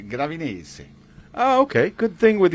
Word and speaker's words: Gravinese: But of course, the English or the American pronunciation is Gravinese, but in Italian you would say Gravinese.